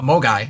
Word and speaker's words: MOGAI: I'm actually trying to look up the term Mogwai right now. A Mogai. I can never pronounce it.